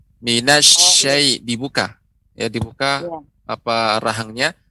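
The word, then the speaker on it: الشيطان: pengucapan shin ya, pengucapan huruf shin harus lebih Ya. dimantapkan lagi. Ya. Dia tidak boleh monyong bibirnya, minash tidak boleh, akan tapi Ya. bibir kita datar. Minasyai dibuka.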